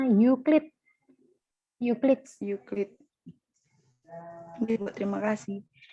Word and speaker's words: Euclid: Bacanya Euclid.